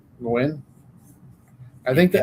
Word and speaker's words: Nguyen: It's not Nugent. How do you say Nguyen? Nguyen. I think the N is silent, isn't it?